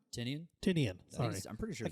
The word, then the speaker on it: Tynion: Tynion. Sorry. I'm pretty sure I can't read my own handwriting. It's Tynion the Fourth.